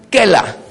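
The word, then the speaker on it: קלע: Es la palabra kela. Si quieren escribirlo, probablemente esta sería la mejor manera de escribirlo. Eso se llama hebreo fonético. Kela. Kela se escribe así. Con ayin.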